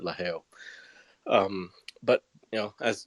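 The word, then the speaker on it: LaGeo: um like it's about la gio la gao but they pronounce it la hayo um but you know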